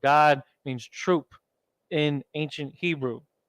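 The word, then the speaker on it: גד: the Assyrian God equals God equals North American Indians is basically guy and die you're putting it together to get God don't think of it like in English the word God that's not what we're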